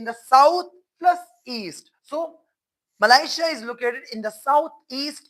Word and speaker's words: Malaysia: But westerners, native speakers of the English language, they pronounce Malaysia as Malaysia. As they pronounce Asia as Asia.